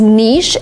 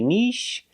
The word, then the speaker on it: niche: same some people say Nish and some people say nich nich is closer to the original pronunciation that is French but in America people say both equally one is not better or worse than the other you